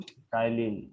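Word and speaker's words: ptyalin: टाइलिन। ये T silent है, कोई टाइलिन मत बोलना, ठीक है।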